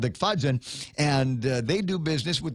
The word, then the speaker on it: Agfayan: Is it pronounced Agfayan or is it Agfadzen? Agfadzen. That's my understanding.